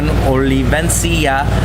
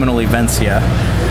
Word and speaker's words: Olivencia: the doc and jam oliven oh did I say that right no it's olivencia uh can you spell